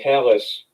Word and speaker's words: Callis: now storyline with don callis which rhymes with gallus which rhymes with dallas uh going to impact